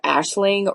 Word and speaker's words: Aisling: I actually looked up the correct pronunciation of her name. Um, and it is, according to Google, it is the Ashling R.